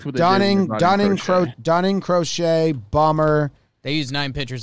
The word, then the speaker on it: Crochet: guys on base yeah um eloy gets hurt crochet is how you say crochet gets hurt he